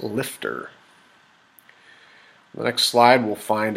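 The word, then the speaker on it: LFTR: reactors or MSRs and liquid fluoride thorium reactors pronounced lifter the next slide we'll find a block diagram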